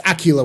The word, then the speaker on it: Aquila: wolf I stand in just like tequila yeah it's Acula with an Ela okay